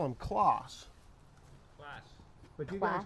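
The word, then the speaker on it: Claas: Yeah, because I knew from the last time I was here that you guys say class. But That's spelled differently. Yeah. Class would be a double S. That's Yeah, double A. a double AS. Yeah. Yeah. Kloss. Yeah. Yeah, Class. C-L-A-A-S. Yeah. Class. Class. Long A.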